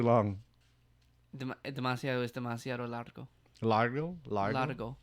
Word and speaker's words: largo: Largo? Largo. Largo. L-A-R-G-O. Demasiado es demasiado Like key largo.